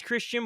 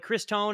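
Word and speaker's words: Christone: Kristen, I think his name is Christian, but like Chris Tone is how it's pronounced.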